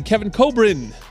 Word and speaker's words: Kevin Kobrine: going into the break so coming out I'll pronounce it correctly Kevin Cobrin from USC men's volleyball what's going on man